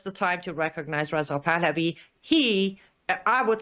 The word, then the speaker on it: Pahlavi: Pahlavi.